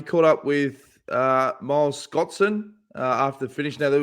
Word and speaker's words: Scotson: Here's Miles Scotson after the finish. And also, I pronounced his name properly. I think I typed it as Scott Sand, s a n d, not son.